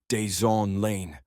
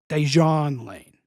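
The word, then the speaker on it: Dejuan Lane: Right Guard this season number three deson lane actually non-union voiceover guy who refused to re-record for us that's pronounced dejan l L dejon Lane good effort though and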